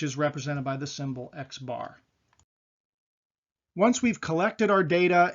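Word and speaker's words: x̄: X with a bar above it oftentimes that's pronounced X bar and you'll see that in statistics books and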